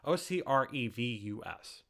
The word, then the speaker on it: Ocrevus: I've heard it pronounced 9 different ways. Ocrevus, if you're ever curious about that.